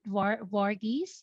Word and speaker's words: Varghese: Now, is it Varghese? Am I saying it right? Yeah, that's right. Okay, so Vargas, here's what I will do.